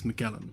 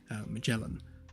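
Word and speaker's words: Magellan: I think it's Portuguese, but in Europe it's pronounced with a hard G. In the US it's been softened to a soft G. So mellin, but in the UK it's Muelan.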